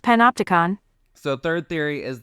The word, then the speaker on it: Panopticon: It’s pronounced Panopticon.** So the third theory is this guy, Ben